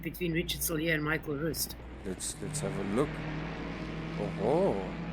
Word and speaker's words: Rust: Most people will say Rust because that's how you spell it, but it's not Rust. Rust is English. It's Rust, or Rust is German.